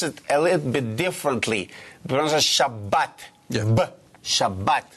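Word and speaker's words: שבת: bet with we call it kak and we pronounce it a little bit differently shabat Shabbat correct okay that's what is about yes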